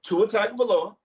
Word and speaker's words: Tua Tagovailoa: So Tua Tagovailoa, said it right, Dave.